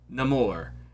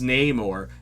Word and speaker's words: Namor: If you haven't seen the movie, you're like, that's not how you say his name. His name is Namor. No, they changed it in the MCU.